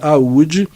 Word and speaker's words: Oude: Então agora, ele fala assim, a rainha de Aúde, escreve Oude, O-U-D-E, tá? Mas eu já fiz uma pesquisa e vi que a pronúncia é Aúde, e é uma cidade da Índia, né?